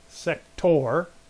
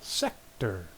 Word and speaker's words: sector: need sector sector and this word you can really hear the first syllable is accented it's not set tour set tour know the first syllable sector try it again sector